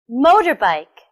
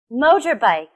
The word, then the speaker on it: motorbike: with the first word motor bike motorbike where do you think the stress is on the first second or third syllable the stress is on the first syllable listen and repeat after